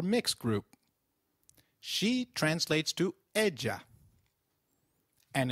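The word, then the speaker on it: ella: of a in Spanish Double L takes up the sound of Y in some areas and a soft J in others so you'll hear both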